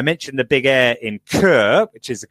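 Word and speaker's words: Chur: were canceled I mentioned the Big Air in Kerr which is the correct pronunciation and that was great to see that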